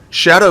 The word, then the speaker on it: Scadu: To overcome this difficulty, Shadow of the Erdtree introduces a new mechanic in the Shadow Fragments. Listen, I know they're spelled like Scadu Fragments, but that's not how they're pronounced.